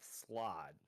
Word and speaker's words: slaad: It's spelled Slaad, but I'm pronouncing it slod because that's kind of how it Okay, slide.